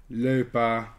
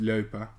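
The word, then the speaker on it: Loepa: Leupa. Yes, that's pronounced Leupa.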